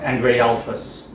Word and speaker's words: Andrealphus: That's how his name is pronounced. Andrealphus, in English. Andrealphus is how I would pronounce him. He says Andrealphus is just fine.